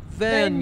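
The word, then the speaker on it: Vergne: I learned the other day it's actually pronounced Vernia.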